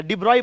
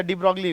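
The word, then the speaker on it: de Broglie: इसको हम लोग याद रखना, इसको ऑल्सो नोन एज डिब्रॉय वेव या डी ब्रॉगली wave, also known as. हालांकि इसको ऐसे वर्ड में पढ़ोगे तो डी ब्रॉगली, लेकिन इसका एक्चुअल प्रोनाउंसिएशन डिब्रॉय है।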